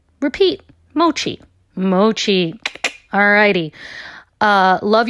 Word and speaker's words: mochi: of white people trying to determine how to pronounce mochi.